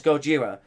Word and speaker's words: Gojira: And based on that other day that we had Gojira aka Godzilla, depending how you pronounce his name, but mostly it's Gojira.